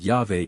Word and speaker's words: Yahweh: It is supposed by some that Yahweh is the proper pronunciation of this word, but as the first